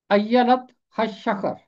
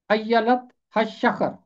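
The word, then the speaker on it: אילת השחר: इसका तलफ़ुज़ है अय्यलत हशखर। ये है इब्रानी के अल्फाज हैं। अय्यलत हशखर, अय्यलत हशखर।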